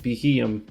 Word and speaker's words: Beheeyem: And before we start, pronunciations for today are Elgium and Beheeyem.